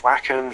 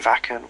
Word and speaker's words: Wacken: of vacon open air I don't if it's wacken vacin wacken however I think we pronounce it wacken yeah yeah yeah yeah